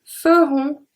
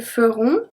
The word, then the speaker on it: feront: Nous ferons, ils feront, elles feront. So the S, the T, and the T are not pronounced.